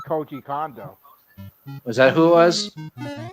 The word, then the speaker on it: Koji Kondo: Is that how it pronounces his name? No, it's Koji Kondo.